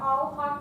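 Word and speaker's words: Alhaqq: And my last name is pronounced Alhaq, A-L-H-A-Q-Q.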